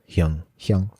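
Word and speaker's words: 형: Yeah, Hyung.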